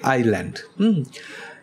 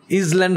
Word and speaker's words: island: আইল্যান্ড মানে কি, এটা কিন্তু উচ্চারণ এসটা হবে না, এসের উচ্চারণটা উজ্জ্ব থাকবে, শুধু হবে কি আইল্যান্ড, ইসল্যান্ড হবে না কিন্তু, তো আইল্যান্ড মানে কি দ্বীপ।